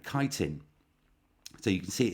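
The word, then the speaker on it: chitin: as well um and that carbohydrate is called kiteen so you can see it in Brackets there um it's not it it looks like you could pronounce it that it's actually pronounced kiteen but you pronounce it any way you like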